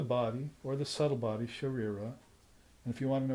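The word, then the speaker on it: शरीर: But Sharira is hard enough to pronounce, but it's because you have to roll the R's in Sanskrit once, not like a Spanish R.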